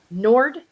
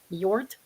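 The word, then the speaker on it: Njord: lakes connected to now can you pronounce this Nord NJ o r d god of the sea Nord god of the sea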